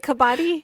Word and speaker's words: kabaddi: And Kabaddi is how it is pronounced.